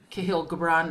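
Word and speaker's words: Kahlil Gibran: a little girl i had uh the um kahil gabrand is that how you say his name yes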